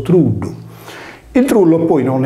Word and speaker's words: trullo: Il truddu sardo richiama alla mente il trullo pugliese, che con la doppia L latina di suono cacuminale si pronuncia anch'esso truddu.